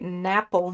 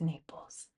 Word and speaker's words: Naples: Napple yellow. Just kidding. pronounced Naples.